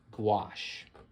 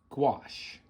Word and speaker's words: gouache: It's very similar to watercolor, and it is called gouache. Okay, gouache. What is gouache? First of all, this is how gouache is spelled.